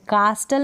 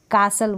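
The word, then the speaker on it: castle: हैं क्या बोलेंगे कासल कास्टल नहीं बोलेंगे कासल बोलेंगे नेक्स्ट है फैसल क्या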